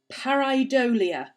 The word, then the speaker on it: pareidolia: The seeing faces in things like clouds and tea leaves and stuff like that is called pareidolia.